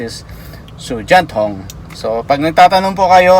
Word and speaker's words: 手电筒: Ang pagka-pronounce is Sujanthong.